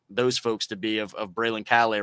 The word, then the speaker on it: Braylon Calais: the takeaway for those folks to be of Braylon Calais right now as you wrap up sophomore year? Yeah, just like you said, for anyone wondering how to pronounce my name, is Braylon Calais.